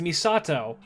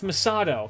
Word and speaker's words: Misato: that's pretty much right no it's misato it's misato that's how you say it you say Misan